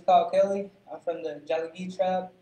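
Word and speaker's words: Tsalagi: I'm from the Jalagee tribe. It's Cherokee. It's just how you say it in Cherokee, Jalagee.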